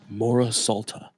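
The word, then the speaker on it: Mora-Sulta: Amore Solta. More what? Can you spell that, please? MORA apostrophe, not apostrophe, dash, SULTA. Mora Salta.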